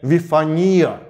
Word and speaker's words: Вифания: находим название этого места вифания ну а по-гречески там стоит ударение вифония Однако ориген нашел в